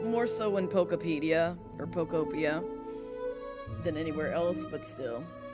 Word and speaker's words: Pokopia: Because it's P-O-K-O-P-I-A, Pokopia. So like, Utopia, but with poke or poke in front of it.